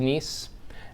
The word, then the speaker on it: NIEM: how it relates to nice now I know it's it's it looks like it's misspelled that that's how it's spelled it is pronounced nice just like it was